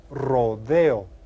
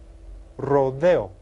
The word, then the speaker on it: rodeo: It's called a rodeo. Rodeo. Have you heard of that? Well, that word came from Spanish, and in Spanish they pronounce it rodeo. rodeo.